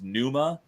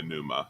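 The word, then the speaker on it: Pneuma: but really enjoyable was Numa uh like p n u m oh like pneumonia Numa yeah it's like a silent P um that was a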